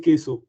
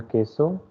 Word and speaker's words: queso: Uh, Let me tell you the pronunciation when QUE is coming all together. It is K pronunciation. So now, can you pronounce it correctly? El queso. Exactly. El queso.